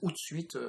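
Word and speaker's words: Hootsuite: le permettent alors j'utilise out suite personnellement alors suite ça s'écrit h o o T et puis suite comme une suite donc un service qui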